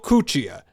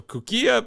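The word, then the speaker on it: Cuccia: Um, after acquiring his bank, he received a call to meet one Enrio Cuchia. That's what I'm going with. Cuchia. You could go Cooia, but I'm pretty sure it's Cooia.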